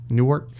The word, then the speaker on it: Newark: going to be many Saints in New York Newark that's how you say it I'll really like